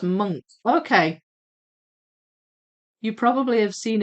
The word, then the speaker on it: Munch: Munch in English, but the ch is pronounced hard, like monk. Oh, I thought it said much. It looked like it said much, but it's pronounced monk.